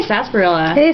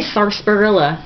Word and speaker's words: sarsaparilla: an r in it the r is silent josh bros i say sarsaparilla i've never heard anybody say sarsaparilla whatever people are weird old